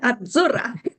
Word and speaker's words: Azzurra: You gotta roll your Z, roll your R, roll everything. Azzurra.